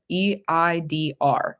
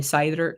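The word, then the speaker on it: seiðr: It's Seidr, Seidr. So, some people I think too, like the more like common pronunciation of it's probably cider, cider.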